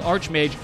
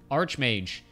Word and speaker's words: archmage: both are technically illegal generally they say Ark Ark is like Ark Angel or arch or Ark bishop as opposed to what